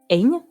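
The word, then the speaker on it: Eithne: donc sa mère biologique elle s'appelle eigne ça s'écrit eighth n e ok non c'est la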